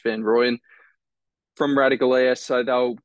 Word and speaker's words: van Rooyen: go Kim to Van ruen van ruen uh van royen it's actually pronounced van rooyen from radical air so they'll get me about